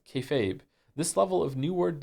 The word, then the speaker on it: kayfabe: Kefabe is pig Latin for be fake. refers to essentially treating a bit you're doing that everyone understands as fake as real to facilitate the bit and is pronounced kayfabe.